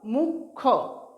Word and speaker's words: মুখ্য: দেখো কীভাবে লিখছি, ময় রস্যু, তারপর ক্ষয়ে জফলা, মুখ্য উচ্চারণ করব মুখ্য। ঠিক আছে, খটা দ্বিতীয় উচ্চারণের মতো উচ্চারণ হবে মুখ্য।